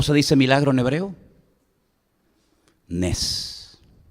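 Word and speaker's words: נס: Nes. Nes.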